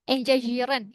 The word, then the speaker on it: engagieren: Engagieren. Ini Französisch. Engagieren. Enga- Engagieren. Ya, good ya. So, kata ini juga ini dipakai sama bahasa Jerman artinya lantai ya, stock. Ya, tapi bacanya Prancis ya, etage.